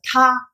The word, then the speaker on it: 他: In Chinese, the pronunciation of she, he, it, the same. It is same pronunciation. It's a ta.